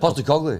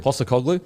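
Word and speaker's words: Postecoglou: Postacoglu. Postacoglu. Yeah. But yeah, no, I don't. Well, I stopped watching soccer when I stopped playing it. Yeah, right. I don't know. Just not Postacoglu.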